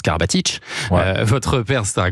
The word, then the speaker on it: Karabatic: K à Nikola et d'où le Karabatic qui se prononce Karabatic.